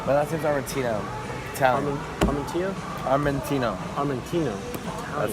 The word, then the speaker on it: Armatino: Armatino?